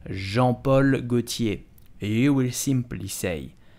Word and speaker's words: Jean Paul Gaultier: how do you prononce jean paul gaultier et où et simply cei jean paul gaultier jean paul gaultier do not prononce jean hockey its jean jean paul gaultier si